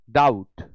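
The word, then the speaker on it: doubt: डाउट संदेह, B silent होता है इसीलिए डाउट पढ़ते हैं। कभी भी बी और टी फाइनली अगर आया हुआ हो तो बी साइलेंट हो जाएगा।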